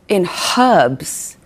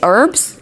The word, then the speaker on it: herbs: Of course, and also I don't understand why you guys don't pronounce the H in herbs. Like you say, what do you say? You say herbs?